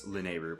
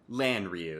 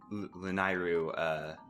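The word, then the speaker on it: Lanayru: Even the creators themselves are unsure of how to pronounce Lanairu properly. I can just tell you off the top of my head, though, it's not Lanryu. That's very much so incorrect.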